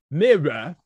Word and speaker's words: mirror: it by the way that's mirror there's two syllables mirror so in my